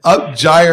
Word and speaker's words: Upgyre: Upgyre. That's the correct pronunciation.